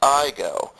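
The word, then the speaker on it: Aygo: spelled a YG o it's a Japanese name pronounced IO so I went online and researched this iigo uh turns out they're sold in Europe for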